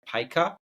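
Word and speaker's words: Pika: them is I think if I'm pronouncing it right paa it's like p i Ka yes it's good for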